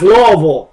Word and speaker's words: Louisville: in Madrid and then Louisville they'll say it's Louisville it's oh that's Lille it's named after King Louis so it' be Louisville or Louisville but they say n it's laville and then Versa it's verses